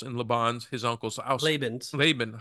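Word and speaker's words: Laban: in say it again no leban Leon no it's laan oh my goodness you're killing me laben so there should be there should be a line over the a the first aan yeah or both of them actually it could be Leon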